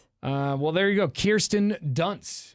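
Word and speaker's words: Kirsten Dunst: Kirsten Dunce is how you pronounce her name.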